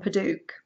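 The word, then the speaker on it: padauk: and it's you and paduk I think that's how you pronounce it p a d a u k and isn't that beautiful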